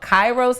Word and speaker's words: Kairos: Now your project is called, and I don't want to get it wrong, but it's called Kairos. Is that how you pronounce it? Yeah, it's good.